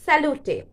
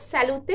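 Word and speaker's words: salute: অপরের হয়ে করা যায় এটা হচ্ছে স্যালুটে বা এটাকে স্যালুটও বলা যায় স্যালুতে বলাটাই বেটার হবে স্যালুতেই অথেন্টিক প্রোনাউন্সিয়েশন স্যালুতে স্যালুতে স্যালুতে এভাবে আপনারা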